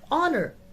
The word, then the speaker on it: honor: it is pronounced and it honor it is not and in house it